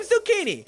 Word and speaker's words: zucchini: and a litigator great i'm zucchini rhymes with houdini and that doofus called